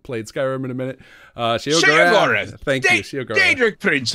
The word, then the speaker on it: Sheogorath: Sheogorath. Thank you, Sheogorath. Daedric, Prince of Madness. Don't mispronounce my name.